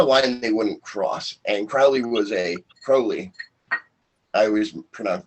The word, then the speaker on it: Crowley: And Crowley. I always mispronounce his name. He has a rhyme. It's my name is Crowley because I'm holy.